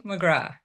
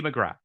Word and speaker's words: McGrath: Katy McGrath. So it's there is no there's no is what you're saying. It's just you the th is silent. Oh, it's just Katie McGrath.